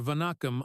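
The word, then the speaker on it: வணக்கம்: Victor, no longer the untouchable CEO, sat at the back, scribbling Tamil phrases in a notebook, stumbling over Vanakam under Aisha's patient correction. Push the second syllable, she said, her tone kind but firm.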